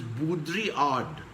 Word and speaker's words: Baudrillard: There is a postmodernist philosopher whose name is Jean Baudrillard. It is written as Baudrillard, but the L is silent and it's pronounced as Baudrillard.